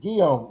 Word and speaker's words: Guillaume: Guillaume rhymes with home.